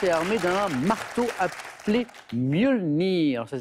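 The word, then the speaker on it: Mjölnir: Des éclairs, des pluies bienfaisantes et armé d'un marteau appelé Mjolnir. Alors, ça s'écrit M-J-O, tréma 2-L-I-N-R, Mjolnir.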